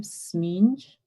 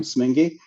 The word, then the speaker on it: Smeenge: this so i apologize smeenge hi just that's close thank you very much my name is smingy and i was out